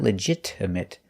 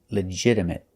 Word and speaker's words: legitimate: We notice that the T is pronounced with a fast D sound. Not legitimate, but legitimate. And a stop T at the end.